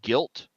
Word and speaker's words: Gylt: one I played is called guilt this is g-y-l-t is how it's spelled um this popped up